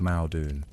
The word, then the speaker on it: Modu: Modu, sometimes pronounced Maodun, didn't just unify the